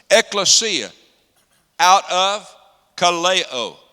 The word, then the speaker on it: ekklesia: church is an ecclesia I know you pronounce it ecclesia right X lesya that's American pronunciation of it ekklesia out of Callao called